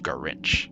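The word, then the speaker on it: Ga'rich: human but he goes by the name of garinch GA apostrophe r-i-c-h so you can see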